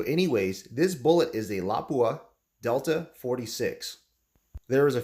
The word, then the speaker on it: Lapua: since 1930s it's a special bullet made by l'a kueh and yes that is the correct pronunciation how to say Lapua so anyways this bullet is the Lapua delta 46 there is a few variations at